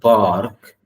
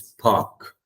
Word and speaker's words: park: The R is not there. Okay, you shouldn't say that. It's not park, it's park on weekends.